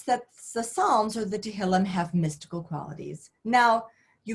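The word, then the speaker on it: תהילים: So he starts studying different things, and he finds that as he gets to the Psalms, or we'll call them the Tehillim, which is, you know, how you say it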